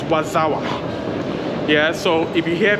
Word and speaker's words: Warszawa: So the Polish pronunciation of Warsaw is Warszawa.